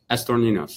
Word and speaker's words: Estorninos: Ryan says, you guys have stayed, Ryan, how do you say that? Estroninos? Estor Ninos. Mm-hmm.